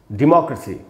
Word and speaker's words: डेमोक्रेसी: एंड से second syllable पे, अब इसमें एंड से थर्ड सिलेबल पे स्ट्रेस होगा। कैसे? एग्जाम्पल समझ लेते हैं। जैसे ये वर्ड है दोस्तों डेमोक्रेसी, जब प्रजातंत्र जिसको बोलते हैं हम, तो अगर इसकी स्पेलिंग को देखें तो ये है DEMOCRACY। इसमें दोस्तों 4 सिलेबल्स हैं। DE एक सिलेबल है, MO दूसरा सिलेबल है, CRA तीसरा सिलेबल है, CY चौथा सिलेबल है।